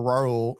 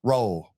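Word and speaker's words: Raúl: Say his name one more time. Ro. Okay. You got it that time. Yeah. What What' I say before? Ra. Ra sound like jaw rule.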